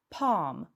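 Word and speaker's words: palm: sunday I tu uwaga w słowie pan nie wymawiamy litery l jest ona nie ma pam pam Sunday Monday Thursday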